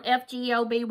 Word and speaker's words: fgoby: and it comes from fgoby or F goby a lot of people pronounce it both different ways I will leave the